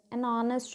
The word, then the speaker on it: honest: Like next example, many words begin with a silent H.